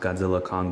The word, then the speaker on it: Godzilla x Kong: Kong the new Empire I know it's pronounced Godzilla Kong but the X just feels right to me so yeah I